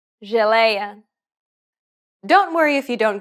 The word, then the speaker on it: geleia: The letters J and G can sometimes be pronounced like J. It sounds like the S in pleasure.